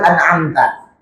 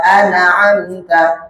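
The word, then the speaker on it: أَنْعَمْتَ: Jangan dibaca seperti ini, Bu. Siratalladzina anamta anamta anaamta. Sering seperti ini. Nah, itu jelas ya. Nun sukun itu harus jelas. Mimnya juga harus jelas.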